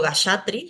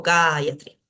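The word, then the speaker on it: gāyatrī: una métrica védica también en la última sílaba no voy a poder acentuar en la penúltima podría pero es una sílaba liviana la a es corta y tengo antes una sílaba más que además tiene una a larga entonces voy a poner el acento ahí es catri no digo gatri digo gayatri Y por último shastra shastra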